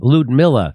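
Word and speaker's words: Lyudmila: Ludmilla, that's it.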